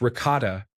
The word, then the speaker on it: ricotta: I replied, "That's pronounced ricotta," in a Midwestern American accent. He then corrected me, saying, "No, it's pronounced ricotta," and he emphasized it with an exaggerated Italian accent.